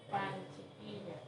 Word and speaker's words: Panchiquilla: Y febrero se dice Panchiquilla. Pan chiquilla. No, pan chiquilla, no pan mantequilla.